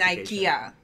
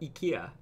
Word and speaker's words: IKEA: never knew that about ikea ikea yeah in japan it's all ikea everyone says it right yeah because we took it from swedish people like we tend